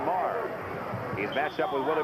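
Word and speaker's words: Maher: It looks like Mayer, but he pronounces it Kevin Marr.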